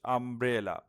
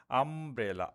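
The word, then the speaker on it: umbrella: Next হচ্ছে I need dash আমব্রেলা। একটু আগে যেটা বলেছি যে ইউ এর সাউন্ডটা যদি আ হয় তাহলে এন হবে। তো এবার দেখো তোমরা আমব্রেলা। আ শুরুতে আ সাউন্ড। ফলে এখানে এন হবে।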